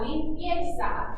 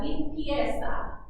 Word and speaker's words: limpieza: This is la limpieza. And notice that Z is making a S sound, not a Z sound. Go ahead and try that for me. La limpieza. La limpieza.